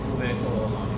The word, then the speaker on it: Uwekoolani: Uwekoolani? Is that it? Uwekoolani.